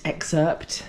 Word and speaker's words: excerpt: The the the viewers loved your little mint mint excerpt. Ah, you don't pronounce the P in excerpt.